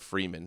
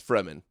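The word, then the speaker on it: Fremen: Is that how you say it? Fman from Dune. Listen to your Fman. That's how you say it, right? It's not Freeman. It's Fman.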